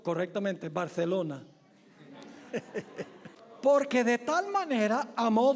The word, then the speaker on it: Barcelona: O debo pronunciarlo correctamente, Barcelona.